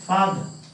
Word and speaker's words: father: Father. On this. You cannot shift the stress. If you shift the stress, it will be further. Further. So you have to have a first syllable stress.